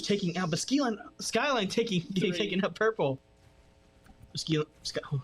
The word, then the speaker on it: Skyline: ranks to it it's it's not pronounced ski line Skyline and then it's about